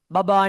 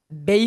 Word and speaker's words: babe: බබා නෙමෙයි කොහොමද කියන්නේ? babe කියලා pronounce වෙන්නේ.